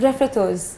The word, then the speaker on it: refritos: Refritos. Okay. Have I got the pronunciation right? Right, Refritos.